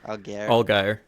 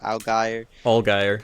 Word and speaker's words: Allgaier: Allgaier. Algier. Allgaier.